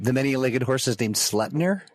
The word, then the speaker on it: Sleipnir: many-legged horse is named Sleipnir? Sleipnir, yep. It's like slept or slut? Slep. S-L-E-P. Sleipnir. God, I'd rather just be called a slur. Right? It's pronounced like the Yiddish schlep.